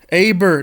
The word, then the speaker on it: Eber: Aber. That's how you pronounce.